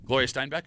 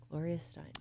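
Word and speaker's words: Gloria Steinem: Gloria Steinbeck. Do you know who she is? Gloria Steinum. She's nobody because it's Gloria Steinum. You idiot. You got the You got the name wrong.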